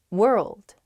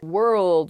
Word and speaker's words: world: one's hard world world hard to pronounce that rld i think together is tough plus that w at the beginning as well it's such a short word but you have to say so many weird things at the same time